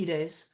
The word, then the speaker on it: Ides: it's may 15th so it's the ides of may the e days um that's how you pronounce that if you were